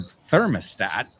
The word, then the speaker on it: thermostat: I mean, that one's pretty, again, the pronunciation is different. Thermostat. We say termostato. We say thermostat. Ah, bueno, es al final como el vuestro. No como tattoo.